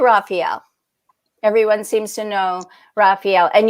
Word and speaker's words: Raphael: Everyone seems to know Raphael. And you break the name down, and it's important to say it like 4 times, and it's Ra, Fa, El, El.